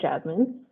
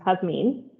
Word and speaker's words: Jasmine: especially with my name a lot of people are you know pronounced at jasmine whereas it's pronounced has mean and i said that